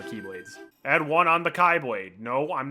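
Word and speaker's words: χ-blade: And one on the Kylade. No, I'm not pronouncing it keyblade. They made that really stupid that it's pronounced the same as keyblade and it's very confusing.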